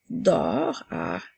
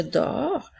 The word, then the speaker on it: dors: continue maintenant avec je dors je s'écrit ensuite nous avons deux attention la lettre S est une lettre muette je dors ça fait partie du